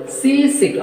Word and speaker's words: seasick: So, compound words have stress on their first syllable. So, that seasick. How many syllables are there here? Two syllables. Seasick. Seasick. So, that compound words have stress on their first syllable. So, that first syllable has stress.